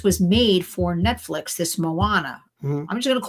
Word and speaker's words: Moana: Everybody, maybe it's Mona. I got to look it up to be honest with you. Moana. And it Moana. It's M-O-A. I know, but I have to see how it's pronounced because I don't really know. Well, and Gracie says it's Moana.